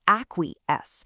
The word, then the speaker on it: acquiesce: Now, on the total flip side of a bold confrontation, we have acquiesce. Pronounced a-kwee-ess.